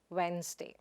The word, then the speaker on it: asthma: The next word is Asma. It is not asthma or as-ma, but asma.